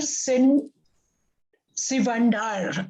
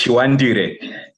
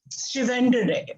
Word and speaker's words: Chiwandire: Now, our third speaker is Sin Sivandar. Am I saying it right? It's Chiwandire. Chiwandire.